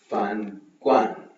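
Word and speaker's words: 饭馆: Okay, next fan guan.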